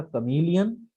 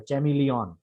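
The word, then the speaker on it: chameleon: जैसे देखिए एग्जाम्पल, पहला है, इसको बोलते हैं, करेक्ट प्रोनाउंसिएशन इसका कमीलियन, और इस शब्द का सही उच्चारण, आई एम so sorry I will repeat, ये वर्ड होता है, मतलब करेक्ट प्रोनाउंसिएशन है कमीलियन, रॉन्ग प्रोनाउंसिएशन है जो लिखा हुआ है चैमिलियन।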